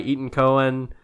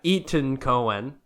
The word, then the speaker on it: Etan Cohen: it's not what yeah Etan Cohen I think that's how you say his name he is the writer